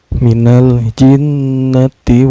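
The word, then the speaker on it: مِنَ الْجِنَّةِ: Hai cara bacanya Hai lem sukunya dibaca secara jelas ya Enggak boleh memantul Minal Minal perboleh Mina lilin ndak boleh ya nggak boleh membantu virus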